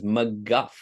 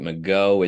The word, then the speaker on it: McGough: that answer and uh the answer is McGuff it's pronounced Scott McGuff I know during my